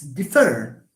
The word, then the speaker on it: differ: For example, it's differ.